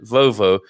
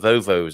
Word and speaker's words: Volvo: and we've got the right pronunciation i said volvo which is actually how devon people as i recall say the brand name of the car the volvo they call them vovos over there in the southwest of